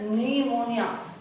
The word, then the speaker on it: pneumonia: जोंसी निमोनिया से, देखिए students, निमोनिया P silent है, निमोनिया से दुख उठा रही थी, निमोनिया था उसको.